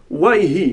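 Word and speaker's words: ויהי: Vayhi, nos maîtres nous disent que Vayhi, d'ailleurs dans la prononciation séfarade authentique, le Vav c'est Waw. Wayhi, Wai.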